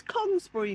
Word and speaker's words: Congresbury: It's Congresbury, Nigel.